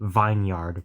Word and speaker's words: vineyard: And yes, I am going to say vineyard because that's how it's spelled.